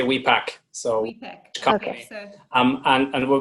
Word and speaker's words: Wipak: as we pack or wipe we actually say we pack so um and and